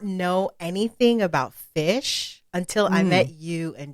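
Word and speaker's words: Phish: fish is a band it's spelled p-h-i-s-h for fish and it's uh four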